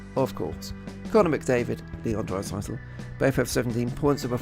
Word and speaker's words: Draisaitl: and I suddenly realised that Draisaitl rhymes with bicycle, and therefore I could